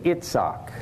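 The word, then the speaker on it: יצחק: Everybody else in the world, except the English speakers, say Itzhak. The I comes out like a short E or a long E, Itzhak sometimes, or I, short I, Itzhak. So the core of the word is the S and then the hard C or a K.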